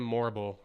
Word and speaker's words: Morrible: Madame Morrible. Rhymes with horrible.